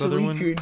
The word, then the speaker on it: Suicune: All right, so starting off with Raikou, Entei, and it's Suicune, dude. It's Suicune.